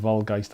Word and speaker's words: Waldgeist: I always think it should be pronounced with a V, but I'm about to do a kind of like a how to play video with them and I need to know how to pronounce it correctly. That's it, Volgeist, I think it is.